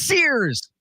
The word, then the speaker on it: Sears: It is Sears. There you go. See, I just figured it had to be a one syllable.